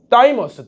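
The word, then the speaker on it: thymus: 가슴샘이 영어로 뭐냐면 자, 어떻게 읽죠? 다이머스 다이머스 오케이 다이머스라고 읽고 얘도요 첫 글자를 따서 무슨 림프구 림프구라고 하는 겁니다.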